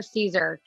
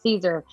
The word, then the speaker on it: Siser: And this segment is with Siser. So Siser is going to break it up into 3 parts for us. Siser, if you haven't heard of him, is not Siser, even though it's spelled Siser.